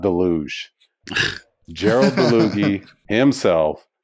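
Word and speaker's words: Dalluge: And by the way, anybody that owns a DeLuge, it's not Deluge. Gerald DeLuge himself said it's DeLuge. Okay, so that's the proper pronunciation from Gerald DeLuge himself.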